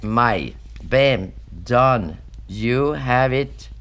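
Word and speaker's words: maille: But M-A-I-L-L-E in French is pronounced mail.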